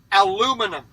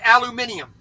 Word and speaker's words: aluminum: we don't exclude anybody even though you're pronouncing it wrong Ross aluminum not aluminium you don't need that extra I yeah i say canola